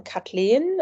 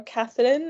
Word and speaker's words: Kathleen: a protagonist called um kathlen uh to pronounce it in a German way uh Kathleen as she um calls